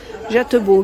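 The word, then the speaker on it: JÄTTEBO: le présenter c'est celui-ci c'est jadebour ça se prononce j'ai hâte de beau 1170 euros canapé 2,5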